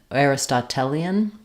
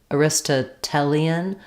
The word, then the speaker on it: Aristotelian: used that term um so I would say it's either AR Aristotelian or Aristo Aristotelian Aristotelian so we probably stress on the tell syllable um I can look